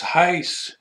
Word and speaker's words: Heisz: It's Heiss. It rhymes with vice or dice or not lice.